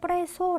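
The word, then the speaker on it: preso: 소 라는 동사 해요 프레소 요구를 보통 사람들이 s 를 두 개 넣어 아주 뺄수 이렇게 발음을 하시는 경우가 많은데 프레이 소 라고 발음해 주셔야 되구요 아침 델의 도 똑같아요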